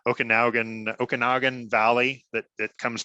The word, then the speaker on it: Okanagan: in the okan I'm gonna say it wrong Okanagan Okanagan Valley that that comes down from BC